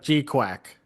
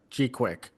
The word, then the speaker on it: GQuuuuuX: So it's like G-Quack or G-Quick or something like that.